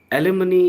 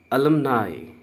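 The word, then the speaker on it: alumni: एलिमनी is wrong. इसका correct pronunciation है अलमनाई। अलमनाई।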